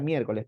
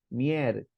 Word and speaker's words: miércoles: Palabra miércoles, por ejemplo, no es miércoles, en cuatro es miércoles. Primero me separas bien la palabra, si no, no hagas nada. Segundo, ubica la sílaba tónica. No es miércoles, sino es miércoles.